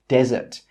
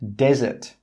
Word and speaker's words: desert: 'Desert' with one S is pronounced 'desert'. The stress is on the first syllable. That means, on the first syllable, there should be more energy. Desert.